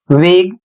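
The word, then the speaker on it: vague: अगला शब्द है वी ए जी यू ई वेग।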